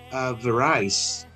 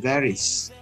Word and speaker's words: varies: Mungkin sebagian kita akan membaca kalimat ini dengan Indonesia varies many aspects of life. Of course, pengucapan kata varies itu tidak tepat. Yang tepat adalah varies.